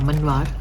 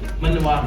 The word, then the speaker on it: Manvaar: मनवार, sorry pronunciation wrong. आप नाम कैसे बोलते हैं? मनवार. मनवार, not मानवार.